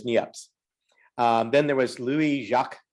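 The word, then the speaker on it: Niépce: nips and i remember someone telling me that there's only like three people in the united states you can pronounce that name correctly so i pronounce it as nieps then there was louis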